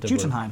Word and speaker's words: Jotunheim: It's pronounced Jotunheim.